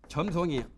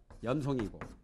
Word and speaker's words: 염송: 이것도 불교의 발음은 점송이 아니라 염송이고 그렇죠?